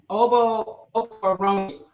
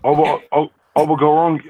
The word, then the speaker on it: Okoronkwo: It is Obo Okoronkwo. Gotta get better at it. Obo Okoronkwo.